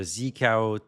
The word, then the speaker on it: zkao: This is and I'm going to demo the Zikao tool. This is how you pronounce it.